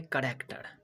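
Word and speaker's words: character: CH की जगह क्या का उच्चारण आया, कौ, केमिस्ट्री। दूसरा जानेंगे, तो चलिए दूसरा एग्जाम्पल है, क्या है, करेक्टर।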